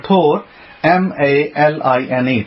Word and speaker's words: tourmaline: T-O-U-R, like tour, like you're going on a tour. M-A-L-I-N-E, tourmaline.